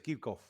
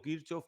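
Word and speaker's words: Kirchhoff: de corrientes de kirchof alguno le dice kirkov pero yo le digo kirchof porque lo aprendí así y le dije Es difícil que me vuelva a cambiar Cómo Cómo se pronuncia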